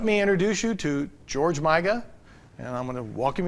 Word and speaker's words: Miga: Some people pronounce your name Miga, and some pronounce it Miga. What is it really supposed to be? Miga.